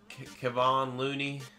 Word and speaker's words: Kevon Looney: Let's do Kevon Looney.